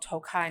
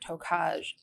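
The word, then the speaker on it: Tokaji: When I told you it was called Tokai, not Tokaj, did I make fun of your pronunciation about it?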